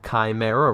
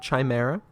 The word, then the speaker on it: chimera: And I know I said chimera wrong. My condolences. See, there, I said it right. You proud of me? It's not chimera, whatever I was saying. Chimera.